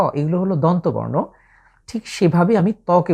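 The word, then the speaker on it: ثاء: লক্ষণীয় বিষয় হচ্ছে বর্ণটি অত্যন্ত সফট কিংবা পাতলা করে উচ্চারণ করতে হবে।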